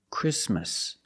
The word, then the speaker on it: Christmas: The T is between consonants, so it is silent. Link the sound s with the M. Christmas Christmas and it's not only in single words.